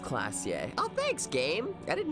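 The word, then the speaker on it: Klaasje: Or is pronounced Oran Classier is pronounced Classier.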